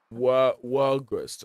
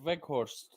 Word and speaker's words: Weghorst: And also up front we have how do you say this name? Walgrust or whatever his name is. Oh, Weghorst. That's the guy they Weghorst.